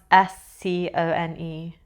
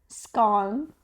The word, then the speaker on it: scone: how would you pronounce s c o n e scone. Okay cuz that's very that's also one of the things in the UK people either say scone or scone.